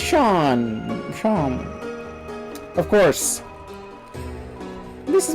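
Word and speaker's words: Seam: Name C and pronounced Sean.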